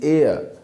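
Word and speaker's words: heir: Number 5, ही is dash एयर of mister Das, हियर ऑन एयर, okay, not हेयर, इट इज एयर।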